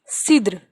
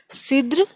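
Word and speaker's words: cidre: Another one, cider, which is Sidr. It is also, we are pronouncing it as Sidr, and it sound like S. Sidr.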